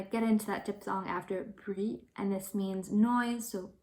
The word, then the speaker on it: bruit: It's bruit, bruit. So the R is kind of really subtle for this one because you kind of gonna get into that diphthong after bruit, and this means noise, so bruit.